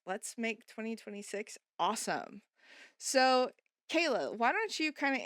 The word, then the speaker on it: Kala: So, my name's Kayla. Um, if you're looking for me, it's spelled a little funny. That's the first thing most people notice. It's K A L A.